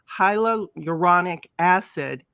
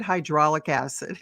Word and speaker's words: hyaluronic acid: for over 45 years I mispronounce words and it is Hilo uranic acid and you said hydraulic acid and hydraulic acids I'm sorry we're not